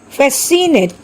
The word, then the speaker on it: fascinate: Fascinate, Caesar, scenario. Here also C is silent.